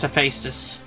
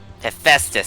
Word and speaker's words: Hephaestus: It's pronounced Hephaestus. Hephaestus, because it sounds like asbestos.